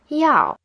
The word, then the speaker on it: 要: 要 is in the fourth tone. When you pronounce it, it should start high and fall low. 要.